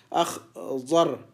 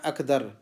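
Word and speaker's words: أخضر: دوبارہ سنیے اخ ضر اخ ضر اخ ضر. اس کو ایسا نہیں پڑھنا اخدر اخدر نہیں اخ غر اخ ضر.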